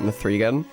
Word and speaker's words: M3GAN: the person on screen did not pronounce it Mithrigan. Because they're saying Megan, and to me Megan